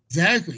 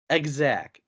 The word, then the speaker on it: XAC: Exact. XAC. So I'm pronouncing it how it's. No, it's fine, because it sounded like you said egg sack.